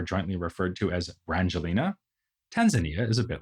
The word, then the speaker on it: Tanzania: and Tanganyika, giving us the new country of Tanzania, or as it is also sometimes pronounced, Tanzania.